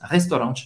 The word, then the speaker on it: restaurant: vão aceitar os tickets restaurant, les tickets restaurant. Restaurant, acaba aqui, hein? Não vai pronunciar nem o T, nem o S no final.